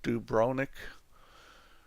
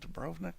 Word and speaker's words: Dubrovnik: Isn't the V pronounced? CR Dubrovnik. Is it Dubrovnik?